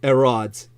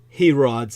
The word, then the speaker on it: Herod: or something Herod um the Greeks never pronounce the h the H is always silent like you'd say Hercules